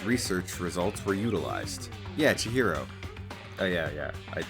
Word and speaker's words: Chihiro: Isn't that um um Chichiro right were among the many talented people whose research results were utilized. Yeah. Chihiro.